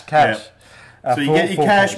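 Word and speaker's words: cache: um I know that the American pronunciation is Cas sorry cash cash so you get your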